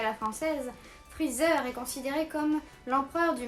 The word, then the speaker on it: Freezer: Et ensuite donc Freezer, je vais le prononcer à la française vu qu'il est écrit à la française. Freezer est considéré comme l'empereur du mal.